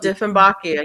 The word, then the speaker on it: Dieffenbachia: Is that how you pronounce it? Oh, Dieffenbachia, yeah.